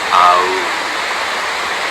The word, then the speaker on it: Aum: But when we do Uccara, we pronounce this bija mantra Aum, spelled A-U-M, or Haum, H-A-U-M, the H being almost silent but riding out on the breath.